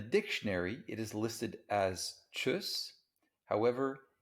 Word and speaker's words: tschüss: and this would be choose this in the dictionary it is listed as chus however in spoken german it's often pronounced choose especially when people are kind of in a playful mood and they're saying by